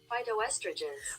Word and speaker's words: phytoestrogens: spilled it wrong okay let's see how you pronounce this real quick and let me hurry up too p-h-y-t-o-e-s-t-r-o-g-e-n-s announce that phytoestrogens okay so it's phytoestrogens phytoestrogens okay so anyway